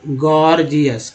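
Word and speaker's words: gorgeous: एक इसका एग्जाम्पल ले लीजिए यहाँ पर, गॉर्जियस, ठीक है, गॉर्जियस में पहला जी जो है ग, दूसरा जी जो है ग, ज के रूप में उच्चारण हो रहा है, गॉर्जियस, गॉर्जियस।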